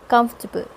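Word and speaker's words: comfortable: इट्स कंफर्टेबल. Okay, got इट. दोनों का pronunciation exactly same था.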